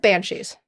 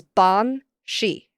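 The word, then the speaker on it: bean sí: as a modern language the word is not banshe as in one word it is Bon she two words uh and it often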